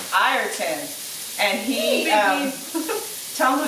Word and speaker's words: Ayrton: His name is Ayrton. Ayrton.